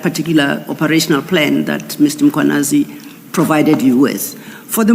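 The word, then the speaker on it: Mkhwanazi: You repeatedly talk of Makwanazi. There is no A right at the beginning of that first syllable. The A is after the H, so it's Mkwanazi, not Makwanazi. I have to apologize.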